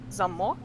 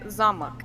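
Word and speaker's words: замок: the other one vlog they're spelled the exact same just the stress one of the stresses on the first syllable and the other one the stress is on the second syllable so oh that sounds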